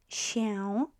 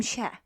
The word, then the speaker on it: się: That's quite important to say that, because if I pronounce this word slowly, slower, się, I would pronounce it exactly as as it would be pronounced. However, if I start speeding up with my speech, speaking quickly, as if you would if you were in a conversation with somebody, we tend to cut this tail and pronounce L as E in quick speech.